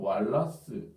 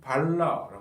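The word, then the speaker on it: Walras: 방식으로 그린 사람이 레온 왈라스 또 라스 또는 뭐 레옹 발라라 프랑스 사람이라서이 미국식으로 읽으면 레온 왈라스 어 프랑스식으로 읽으면 레옹이 됩니다 레옹 라라고 하는 사람인데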